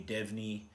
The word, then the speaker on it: DVNE: came out on friday the new devnet album i think that's how you pronounce it it's spelt dvne fantastic progressive metal sludge